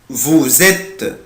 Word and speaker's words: vous êtes: tu es il est elle est on est nous sommes vous ici je prononce la lettre S Z. هنا هنطق حرف الاس ايه يا ولاد؟ Z. vous êtes برافو عشان جاي بعد منه lettre ايه voyelle.